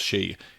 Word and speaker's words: Hsieh: Well, Tony Hsieh, now it's actually spelled Hsieh but pronounced Hsieh.